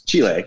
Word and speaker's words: Chile: your blueberries are from we pronounce it chili here but it's Chile right if you get your